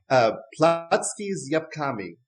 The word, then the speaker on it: Placki z jabłkami: So how do we pronounce this? So it's apple pancakes. And in Polish, it's Placki's jabłkami.